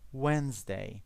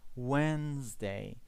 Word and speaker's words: Wednesday: The next will be Wednesday. Okay? The D is silent here. Wednesday. We do not pronounce the D. Okay? Wednesday.